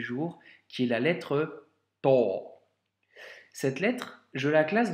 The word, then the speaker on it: ط: Elle ne se prononce pas te, mais to.